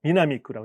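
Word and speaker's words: 南区: 코으나응크 니가타시 코난크 또 한 곳은 니가타시 남구니까 미나미크라고 읽어야 있죠.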